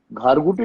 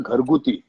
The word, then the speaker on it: घरगुती: घारगुटी नाही ग, घरगुती. घारगुटी काय? That's the French way of pronouncing it.